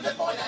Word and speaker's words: Des Moines: Utah, Columbia, South Carolina, the S is silent in Des Moines, Iowa, and also in Little Rock, Arkansas.